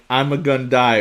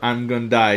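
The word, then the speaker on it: Ima-Gun Di: like the Wikipedia article his name pronounced like I'm a gun die or I'm gonna die directly means I'm going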